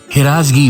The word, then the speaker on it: ہراس: ایک اور اہم لفظ ہراسگی پر بات کریں گے۔ فارسی میں ایک لفظ ہے ہراس، یعنی ہے کے نیچے زیر کے ساتھ۔ اس کے معنی ہے